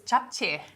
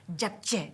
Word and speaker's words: japchae: Now, I never get the pronunciation of this dish right. Japchae? Very close. Japchae. Japchae.